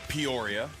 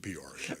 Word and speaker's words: Peoria: Rhymes with euphoria. Okay, Peoria, just calm down.